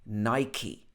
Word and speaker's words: Nike: In the past, I also used to say Nike, but really it should be Nike. Nike.